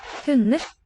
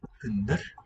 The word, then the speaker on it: hunder: Hunder. Hunder. The D seems to drop out.